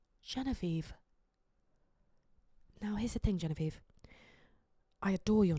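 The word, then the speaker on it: Genevieve: now here's the thing Genevie I adore your name did you know that your name is actually French and it's actually pronounced Jean Viv and you may not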